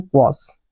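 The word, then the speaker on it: quash: और अगर प्रोनाउंसिएशन देखें तो यहाँ पे हिंदी में भी लिखा हुआ है क्वास।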